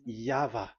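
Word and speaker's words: Yahweh: Pronunciation is equal V. It is V. Y H V H. So it is YAHVAH.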